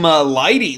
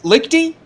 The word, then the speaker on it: Lichty: and yeah as you uh adam lighty lichty lighty i believe it's lichty i believe that was the agreed upon pronunciation uh adam lichty in